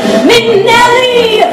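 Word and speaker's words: Minnelli: That's what you say, Minelli, Liza Minelli.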